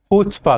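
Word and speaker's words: chutzpah: सी यहां पे साइलेंट है। तो इसका प्रोनंसिएशन कैसे होता है? हुस्पा करके।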